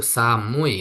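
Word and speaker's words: 寒い: Dan nomor empat yang D pilihan itu dibaca itu samui ya bukan enggak ada runya ini.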